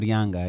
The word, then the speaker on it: Yanga: Yanga, is that how you pronounce that? Gaspar Yanga, yeah.